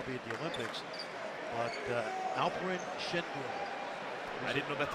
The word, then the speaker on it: Alperen Şengün: But Alperen Şengün. I didn't know that's how you pronounce it.